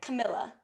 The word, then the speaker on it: Camilla: Camilla or am I saying it right okay Camilla thank you for clarifying because I thought I